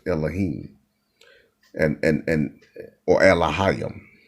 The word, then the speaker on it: Elohim: of people don't realize the word god is is singular or plural in hebrew is pronounced elohim and and and or